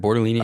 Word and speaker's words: Bortolini: Bortolini and Okay, I Matt thought I Goncalves.